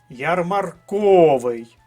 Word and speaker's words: ярмарковий: склад псевдонім третій склад ярмарковий третій склад сантиметр пам'ятаємо що сантиметр